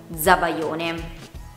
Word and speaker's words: zabaione: All'inizio di una parola, la cui seconda sillaba comincia con B, D, G, L, M, N, R o V. Per esempio parole come zingaro, zabaione.